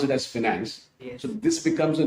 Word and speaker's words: 5nance: तो हमने कहा कि चलो ठीक है, FINANC तो नहीं मिल सकता है, तो why not coin it as 5NANC and pronounce it as finance?